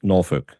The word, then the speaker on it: Norfolk: But Canton also pronounces Norfolk as Norfork.